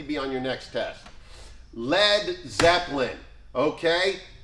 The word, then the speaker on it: Led Zeppelin: Led Zeppelin. Okay? You know why it's spelled L-E-D and not L-E-A-D? Because they were sure that Americans would call it Lead Zeppelin.